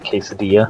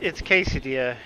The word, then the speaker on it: quesadilla: Yeah, Icky, you've got the pronunciation mostly right. I mean, there's accents that say it exactly like that. Mostly in Spanish, it's how Will Fryer typed it, quesadilla. Yeah, it's quesadilla, and...